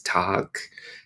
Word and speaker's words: Tag: Or even the word for day in German is Tag. Tag. Sounds a little bit harder than tag, like in English.